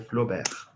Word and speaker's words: Flaubert: Vai inventar o realismo na França, chama Gustavo Flober. Vou escrever o nome dele aqui no chat, caso alguém queira pesquisar depois. Gustavo escreve Flaubert, mas pronuncia Flobert.